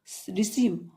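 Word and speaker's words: receive: कोई नहीं नेक्स्ट है रिसीव आर ई सी ई आईवी ई रिसीव ई के बाद आई लगा हुआ है इसम बड़ी ई की मात्रा हो गई आर ई सी ई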